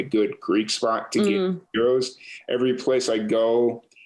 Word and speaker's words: gyros: Is it pronounced gyro, gyro, or gyro? Or gyro. What's that? It's gyro. Gyro, okay. Yeah. Because I've heard it pronounced all three ways, and I never know. So no, the correct one is gyros.